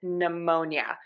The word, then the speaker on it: pneumonia: of silent letters here k-n-g-n and p n at the beginning of a word are always going to have assignment letter and we're just going to say that n so k-n-n knife GNN